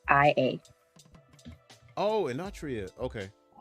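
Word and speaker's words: Enotria: anria the last song Whoa you got to spell that one e n o t r i a oh inria okay how did I miss that how did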